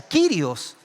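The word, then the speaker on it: κύριος: La palabra Señor en el griego se pronuncia quirios y quiere decir amo, dueño, máxima autoridad, jefe supremo, soberano, absoluto.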